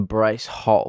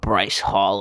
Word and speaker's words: Bryce Hall: said some things about bryce hall in the past but it was it was somewhat satisfying to see someone whose name rhymes with rice ball lose so brutally in